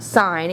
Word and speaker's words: sine: represented as s i n a and it's pronounced sign even though you don't doesn't have the E